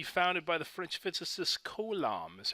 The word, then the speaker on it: Coulomb: force should be founded by the French physicist Coulomb is how you pronounce that delightfully French name and he's got